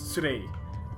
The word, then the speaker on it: Surei: I mean obviously they don't pronounce it like that because in Japanese there's no L, so it's Surei.